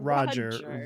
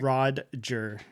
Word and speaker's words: Rodger: So not Roger, Rodger. Roger. He's real specific about it. It's Rod. Roger He corrects Roger with a people D. constantly. Roger with a D. I want you to specifically pronounce the D.